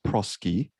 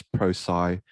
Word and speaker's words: Prosci: change management there was a word that you pronounced as prosky i hope you've got it correct today as pro sai because we've got a